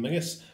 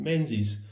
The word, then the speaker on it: Menzies: I can see this was bought from John Mingus for the princely sum of 14.25 and yes that is how you pronounce that it isn't Menzies The Zed is our substitute letter for an